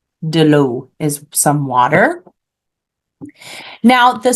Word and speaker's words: l'eau: remember EAU in French makes an O sound. So water is pronounced l'eau. De l'eau is some water.